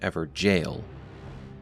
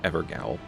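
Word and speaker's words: Evergaol: actually found within an Ever jail notice how I'm putting emphasis on jail as many in the community left comments calling us out on our mispronunciation of evergel as evergowl we've learned our lesson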